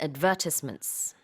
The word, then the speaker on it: advertisements: 이렇게 ad is the stress on the ad then.